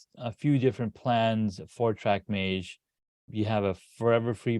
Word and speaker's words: Trek Mage: was not available okay track Mage the next best thing yeah we didn't realize at that point that people don't pronounce it the correct way like they look at it and like track what track M yeah yes track M so you have a